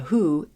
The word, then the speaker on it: Hu: This is The Who, Hu, and Wiki says that it's pronounced Who, so I'm going with that.